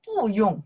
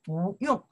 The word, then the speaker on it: 不用: tones, that's a character, we don't pronounce four tones, we change, we say second tones.